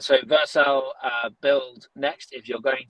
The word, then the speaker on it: Vercel: So Faith actually asked, would you recommend Vercel? Is that how I pronounce it properly? Yeah, Vercel. So Vercel, build Next.